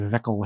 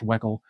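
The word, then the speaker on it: Weckl: Dave Veckel, Heads Up. I don't know if it's pronounced Veckel or Weckel. It's probably pronounced Weckel, but I'm having more fun saying Veckel.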